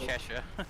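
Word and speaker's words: Chesa: C H S A C H E S A whatever. It's pronounced Chesha.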